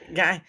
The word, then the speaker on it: Geyer: Guy, yeah, Uh, I was like, well, how do you say this? It looks like it says Geyer there, not Gayer.